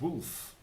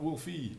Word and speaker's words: Woolfe: list um then uh it's pronounced wolf not Wolfie no just wolf like uh like giraffe not not giraff e um I think giraffe